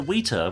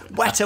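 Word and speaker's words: Weta: to New Zealand to the wheter which I'm now saying correctly workshop I'm not saying it correctly it's uh what a workshop she poses a fantastic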